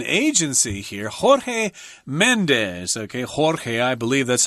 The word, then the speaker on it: Jorge: big name an agency here Jorge Mendes ok Jorge I believe that's how you would pronounce that in Spanish he represents some of